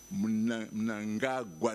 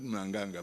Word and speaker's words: Mnangagwa: So Mnanganga, is gone, Yes, it's Mnangagwa, not Mnanganga.